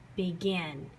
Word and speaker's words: begin: miss Cloud say it begin begin the Gin is stretched you say it a little bit louder and you put a little bit more emphasis on it so when that last